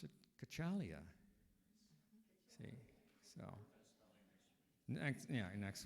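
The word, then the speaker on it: Cacciglia: not pronounced the way I was trying to pronounce it kachalia see so next yeah next week's spelling okay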